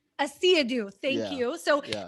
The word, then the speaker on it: Asiedu: So Asiedu, please, how's your last name pronounced? Asiedu. Asiedu, thank Yeah, you.